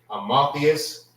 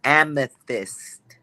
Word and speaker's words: amethyst: How you pronounce this? Is it Amotheus? Salakia, sir. It's amethyst.